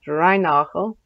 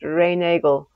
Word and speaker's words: Reinagle: He was born in Austria, and so probably his name should be pronounced Reinachel. But because he lived in England, it may have become pronounced Reinagle.